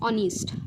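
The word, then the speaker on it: honest: तो काय आहे बघा ऑनेस्ट काय आहे बघा ऑनेस्ट आणि ह्याचा जो काही प्रोनन्सिएशन आहे ते काय आहे बघा ऑनिस्ट ओ एन आय एस टी तर विद्यार्थी मित्रांनो ह्यामध्ये एच हा सायलंट आहे आणि ऑनेस्ट म्हणजेच काय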